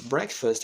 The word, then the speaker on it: Breakfast: manhã para o brasileiro na palavra Break tem um detalhe Breakfast aliás tem uma combinação de duas palavras e a pronúncia Muda a letra A Primeira Letra a ela não se pronuncia e a segunda letra a palavra Black first duas coisas diferentes primeira letra A não existe e a segunda letra A Ou seja a terceira vogal é neutra gente gostei de estar